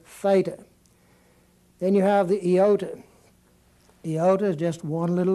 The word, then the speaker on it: iota: DOT over it it's Iota is the way it's pronounced and it has more of an e sound than it does an a sound or an i sound but it's going to